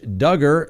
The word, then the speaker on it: Duggar: home called it second josh duggar rhymes with hugger his trial has been